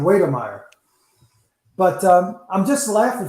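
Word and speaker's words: Wydermyer: texas a m jalen weidermeyer and please tell me if i said his name wrong but yeah that's how i pronounce it okay straightforward oh wait i think it's more like waiter meyer but um i'm just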